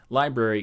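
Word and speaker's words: LBRY: but also centralization through library TV and to be clear library is spelled lbr why so you go to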